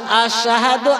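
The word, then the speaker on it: أشهد: হযরত বেলাল আশহাদু আন্না, আলিফ শিন জবর আশ বা হামজা শিন জবর আশ, এটা না বলে বেলাল হামজা সা জবর আস পড়তেন, অর্থাৎ শিনির জায়গায় সা উচ্চারণ করে ফেলতেন।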